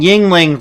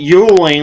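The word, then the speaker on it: Yuengling: golden star for you for pronouncing yingling right well like i said i had to take an east coast person to in person to help me pronounce it properly because like i said us west coast people were calling it yuling like it's a [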